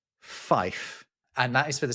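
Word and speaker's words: five: 5 is not pronounced 5, it's pronounced fife.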